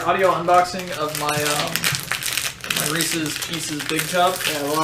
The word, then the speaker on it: Reese's: It's pronounced Reese's Pieces.